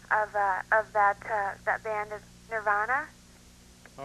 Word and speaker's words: Nirvana: Hi, the correct pronunciation of that band is Nirvana.